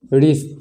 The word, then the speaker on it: wrist: ये इसमें भी हम देख रहे हैं कि W के बाद जस्ट R आ रहा है, तो इसमें भी W का उच्चारण नहीं किया जाएगा। इसका उच्चारण क्या हो जाएगा? रिस्ट, है ना, रिस्ट।